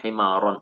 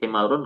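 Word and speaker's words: حمارا: Makanya dibacanya himaron, nggak boleh himarun, nggak boleh himari.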